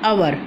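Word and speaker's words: hour: रही है इसके अंदर एच जो होता है वो साइलेंट होता है, तो हम बोल रहे हैं अवर, तो अ की साउंड आ रही है, तो इसलिए एन अवर।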